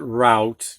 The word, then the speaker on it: route: a little more but we're pronouncing it route because we're using the oh you as the ow sound all right let's continue